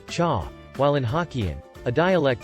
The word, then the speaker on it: chá: For example, in Mandarin Chinese, it is pronounced cha, while in Hokkien, a dialect spoken in Southeast Asia, it is pronounced te.